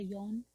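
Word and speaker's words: 四: whirlpool and the uh number four she uh sounds like the word for death in Japanese which is she so that's why a lot of uh Japanese classes they teach you to say yon or yon instead of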